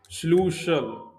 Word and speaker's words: Schlüssel: Another is Schlüssel. Schlüssel. It's Schlüssel. So, Schlüssel means key. Or keys, you can say. Here again, you have to use two dots over U.